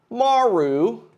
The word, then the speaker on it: Maru: uh uh let me see sarl versus Maru Maru I think that's how you pronounce it I know some some commentators say